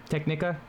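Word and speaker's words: Tecnica: that last word Technica sure it's te c n i c a technika that's what I had say or t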